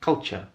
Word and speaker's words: culture: It's not that difficult, it's just 2 syllables.